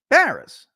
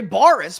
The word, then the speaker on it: Barris: All the time, people spell it with 2 R's because it sounds like Harris. Barris, Harris, right? So I get it. Whoops, big deal. People say Boris because it's only 1 R.